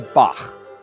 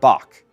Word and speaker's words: Bach: of johann's maesta veyaka just remember you're listening to bach not bach the tongue bunches up in the back of the mouth and air gets pushed out and over it the result is a low raspy sound now you try it